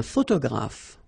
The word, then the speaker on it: photographe: So here ph and here ph. Pronounce it like f, f, f, f.